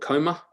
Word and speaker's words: COMA: That workshop was called COMA, to rhyme with monophoma, and that COMA referred to or stood for City of Music and Art.